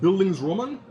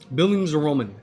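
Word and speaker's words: Bildungsroman: of a tongue twister it's a German word I believe it's pronounced bildings Roman Billings Roman um it is German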